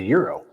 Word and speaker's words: gyro: Another in the food category is the euro, right?